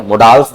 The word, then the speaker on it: modals: अब इसकी actual pronunciation है मॉडल्स। ठीक है। जैसे मॉडल लिखा हुआ है तो इंग्लिश के अंदर इसके साथ एस लग जाता है तो मॉडल्स बन जाता है, मोडाल्स नहीं बनता।